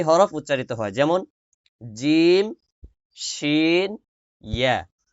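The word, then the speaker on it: ش: উচ্চারিত হয়, যেমন জিম, শিন, ইয়া। জিম, জিম। মুখটাকে সরাই দিবেন, জিম, জিম। মুখ ছড়াইয়া উচ্চারণ করবেন, জিম। শিন, শিন। শিনে বাতাস বের হবে, শিনে বাতাস বের হবে।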